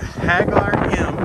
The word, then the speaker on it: Ħaġar Qim: I'm going to Ħaġar Qim. They don't pronounce the Q, but it's 100 meters.